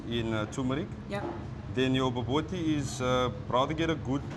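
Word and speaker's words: bobotie: It's baboti? Baboti? You pronounce it boboti.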